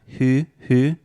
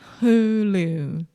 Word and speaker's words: Hulu: who okay but IEX it's not who who that almost seems French who who Hulu Hulu Hulu Hulu perfect okay so I have